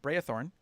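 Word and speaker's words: Braethorn: all over the channel it's b-r-a-e not e a b-r-a-e thorn brayathorn and then type out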